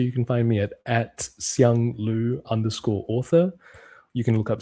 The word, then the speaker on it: Siang Lu: That was Siang Lu. I want to make sure I pronounce it correctly. Siang Lu.